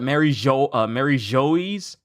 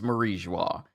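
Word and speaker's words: Mary Geoise: And and a lot of people call it Mary Joyce or Mary Joyce, but I feel like it's Marie Joie because the ending of it is spelled the same way that you say the word bourgeois. So for me personally, it is Marie Joie.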